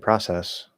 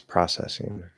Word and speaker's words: process: Do you pronounce the words protest and process differently when they're used as verbs as opposed to nouns? There's a protest. I'm going to protest. No. It's a process. It's processing. No.